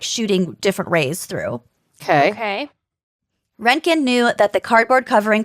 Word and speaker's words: Röntgen: When a German engineer and physicist named Wilhelm Conrad Röntgen, there's an umlaut over the O, so I think it's pronounced Röntgen, Okay.